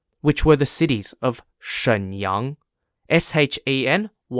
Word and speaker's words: Shenyang: in the Northeast which were the cities of Shenyang s-h-e-n-y-a-n-g jindrol j-i-n-z-h-o-u and Chong Chun c-h-a-n-g-c-h-u-n the